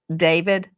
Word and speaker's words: D4VD: What a coinkydink that David, some people look at his name and it looks like D4VD, and he pronounces it David.